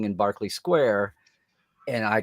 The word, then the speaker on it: Berkeley Square: in Nightingale saying in Barkley Square and I called it Berkeley Square until I heard someone sing it but they're using the British pronunciation yeah yeah yeah yeah